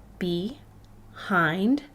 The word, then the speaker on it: behind: does not play fair the i makes a long vowel sound even though it's part of a closed syllable the second part of this word is hind if i put the syllables together i have be hind behind say that with